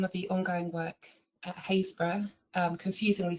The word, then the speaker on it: Happisburgh: Um today I'm going to be talking about some of the ongoing work at Hayesbor um confusingly spelled Hapisburg but pronounced Hazes.